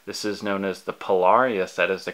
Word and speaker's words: Pilar: This is known as the Pilar. Yes, that is the correct way of pronouncing it.